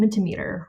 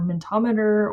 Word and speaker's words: Mentimeter: the Digital Learning Committee called Mentimeter, or Mentometer, or however you want to pronounce it.